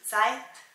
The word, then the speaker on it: Zeit: Oft wird EI auch zu I, also einem langen I im Schweizerdeutschen. Zum Beispiel die Zeit, die Zeit.